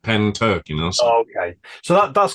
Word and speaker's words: Pentyrch: apologies for the pronunciation pen as like a writing pen and then Turk you know tur like turkey but pen Turk you okay so that